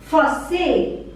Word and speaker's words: français: If the person is masculine or male, we say français, français, français. Here this say with this symbol is pronounced as S. Okay, so it becomes français, français. S is silent.